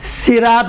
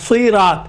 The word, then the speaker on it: صراط: دیکھیں صراط، صراط نہیں ہوگا، صراط.